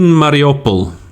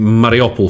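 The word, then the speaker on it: Mariupol: as we go along i think mariopol fortunately is the the pronunciation i think is the same in in both ukrainian and russian um this is something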